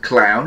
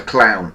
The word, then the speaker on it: Clowne: This is on the extension for a place called Clown, which is just down the road from me here, but that is on the Clown exchange, which is, Clown is a village.